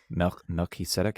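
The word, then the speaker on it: מלכי־צדק: Melchizedek would be, I guess, it's Melchizedek. Melchizedek. It's like two words smushed together. Melech is king. Tzedek is righteous.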